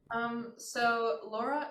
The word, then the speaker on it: Lora: name for your quartet Laura is a Spanish translation of the word parrot obviously we americanize the pronunciation of it um but there's actually